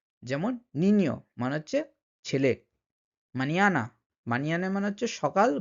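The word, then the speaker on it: mañana: বলেন অনিয়ন নিয় নিয় এই নিয় উচ্চারণটা কিন্তু এই এন এর উপরে টিলস সাইন দিয়ে বোঝানো হয় যেমন নিনিয় মানে হচ্ছে ছেলে মানিয়ানা মানিয়ানা মানে হচ্ছে সকাল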